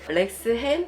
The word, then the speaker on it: Lexham: 발음해 주실래요? 이거 논쟁이 있더라고요. 논쟁이 그래요? 있는데. 렉스햄 성경 지리 주석.